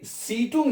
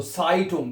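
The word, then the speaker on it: Zeitung: जैसे सीटुंग नहीं पढ़ना है, इसको साइटुंग, क्योंकि ई आई इकट्ठा है, इसको आपने आई पढ़ करके प्रोनाउंस करना है, ठीक है।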